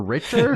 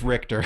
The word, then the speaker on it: Richter: to play where uh is it writer or Richard no it's Richter all right they say his name oh yeah the game multiple times it's voice acting Richter Belmont confronts and defeats